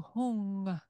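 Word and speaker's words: ཧཱུྃ: But then down below you have a oo vowel sound. So that would be hu. But then above you have this crescent moon and then the bindu. It's another way of making the ng sound, ng. So hung. It's kind of similar to the om, but slightly different. It's an ng sound.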